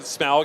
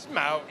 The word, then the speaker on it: Smaug: Notice how I said Smaug instead of Smaug? You said it right. Thank you, I know. I used to say it wrong Smaug.